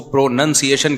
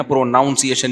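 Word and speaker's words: pronunciation: प्रोनाउन है प्रोनाउन है लेकिन जब इसको प्रोनसिएशन कहेंगे ना प्रोनाउंसिएशन नहीं कहते तो मैं अपनी तरफ से इ्तहाद करके प्रोनाउन से प्रोनाउंसिएशन बनाता था किसी ने बताया यह प्रोनाउंसिएशन जब होगा तो प्रोनंसिएशन होता है नाउन नहीं तो लुगत में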